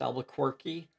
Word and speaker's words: Albuquerque: what to bring to the I believe it's pronounced Albuquerque.